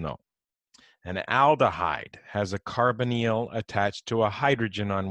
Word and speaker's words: carbonyl: So anytime I say, I know it looks like carbonyl, but that's not how you pronounce it. You say carbonyl.